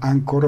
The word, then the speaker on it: Anchor: vamos a ver que anchor ancor se pronuncia ancor protocol nos ofrece el